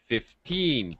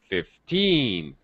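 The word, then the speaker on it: fifteen: listen for the sound the 15 the pitch Rises on the second syllable when I say multiples of 10 like 50 50 50 high low when I say 15 it's low high 15 15 okay please don't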